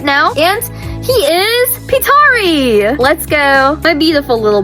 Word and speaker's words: Pietari: Let's start off with this character we got on screen right now and he is Petari. Let's go. My beautiful little boy. His name is actually pronounced Peteri.